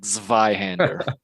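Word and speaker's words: Zweihänder: how you pronounce it zweihander yeah that's like a v like zveyhander anyway no i'm gonna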